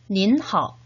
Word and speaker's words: 您好: 역시 3번씩 같이 발음해 보도록 합시다. 您好, 您好, 您好.